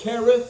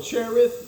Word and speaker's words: Cherith: And then he flees east of the Jordan and gets fed by ravens and drinks from the book brook Kerth or Cherith, which whichever pronunciation you like.